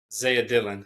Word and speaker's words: Dillion: joined by dillian is that how I pronounce it Dyan yeah spell a little we Dyan yeah I thought it was Dylan but I didn't want to be presumptuous so